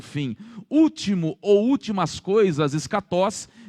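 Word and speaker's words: ἔσχατος: Escatologia é a junção de duas palavras gregas, escatos, alguns pronunciam escatós, a maioria dos professores de grego pronunciam escatós, ou escatas, unido à palavra logos.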